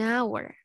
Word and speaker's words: hour: Jadi silent H berarti huruf H-nya itu tidak disuarakan, tidak dibaca. Contohnya, an hour. An hour. Nah, ini yang dimaksud silent H ya. Jadi nggak dibaca hour gitu, enggak. Ini dia, anggap aja kalian coret. Nggak usah dianggap ya, langsung hour. Karena suara yang pertama keluar adalah A, hour. Makanya yang dipakai adalah an.